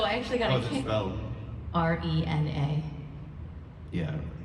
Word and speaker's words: Rena: R-E-N-A. Yeah, if it's Japanese, that would be Reina.